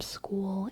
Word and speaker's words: school: but that's different from school and skull school full skull all different all different I think that's an issue for us that don't speak English as first language yeah School rhymes with fool yeah true y'all today